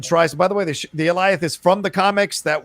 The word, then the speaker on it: Alioth: Alioth? How do you guys say it? How are you guys saying it? Like Goliath. That's it. The Alioth shows up and tries. By the way, the Alioth is from the comics.